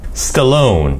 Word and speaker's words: Stallone: Stallone. 이렇게 강세를 넣어서 발음하면 우리는 잘 못 알아듣는 경우가 많아요.